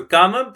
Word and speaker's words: kama: So gama sounds like come in English just with an a at the end to make it pronouncable.